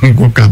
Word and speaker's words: Ngoka: I'm trying to pronounce the name exactly the way they do, but it is Ngoka. But when you are in South Africa, they have this way they pronounce it with their tongue.